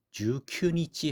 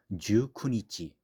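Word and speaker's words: 十九日: 자, 일본은행은 19일, 우리 19일 읽을 때 주쿠라고 읽죠. 주큐니치 하면 좀 발음이 어렵기 때문에 주쿠니치. 마이너스 키니오 야메르.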